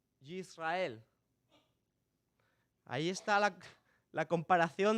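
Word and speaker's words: ישראל: muy parecida a Israel si los pronunciamos en hebreo es yisrael yisrael ahí está la la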